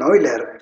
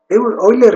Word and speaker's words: Euler: la ruta del caballo oiler mismo porque se pronuncia eiler Aunque lo veas escrito de otra forma eiler mismo Comenta lo siguiente